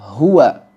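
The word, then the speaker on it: هو: ww fathah Akan tetapi jika kita waqaf pada kata tersebut Hua ketika kita wakaf pada kata tersebut maka dia akan berubah menjadi mad dan kita membacanya hu dua harakat hu hu tidak ditekan hu G Dir rem dengan mendadak dan menambahkan seperti ada huruf hamzah Hu juga tidak dipanjangkan hu seperti itu ya jadi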